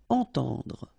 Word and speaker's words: entendre: à, devoir, entendre, okay, so two times this nasal, entend, and then at the end don't insist on the final E, dr, entendre.